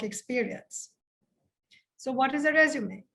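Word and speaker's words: résumé: know is a resume that e is pronounced like a french e it's not resume it's resume so cv is a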